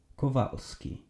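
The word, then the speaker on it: Kowalski: If you wish to pronounce Polish names, every time you see a W, change it to V. Kovalski or Smithy, but not like this Smiffy, like this Smithy.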